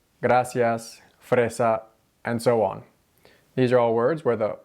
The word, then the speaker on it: gracias: not rolled not drilled when the r comes before or after a consonant that's part of the same syllable gracias fresa and so on